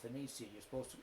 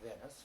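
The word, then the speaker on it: Venezia: But it's called Verona, is what is the way you're supposed to pronounce it is Roma, not Rome. And the same way with Venetia, it's called Venetia, not Venice.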